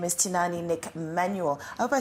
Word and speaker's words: Tinaani: not is it a shaa it's actually shaa tinani tinani yes so people actually pronounce it like tinani tinani so you know